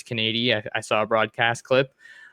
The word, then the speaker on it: Canady: trying to figure out how to say his name but we were pretty sure it's Kady I saw a broadcast